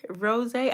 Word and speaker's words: Rosé: in a YouTube really Rosé I guess it's because I had some wine last week called Rosé and and it was spelled the same way it was felt the